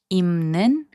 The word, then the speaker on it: 입는: So 입는, which means wearing, is pronounced as 입는.